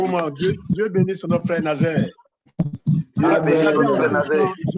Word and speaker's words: Nazaire: Nous pouvons, j'ai retrouvé maintenant la formulation, la prononciation correcte de Nazaire.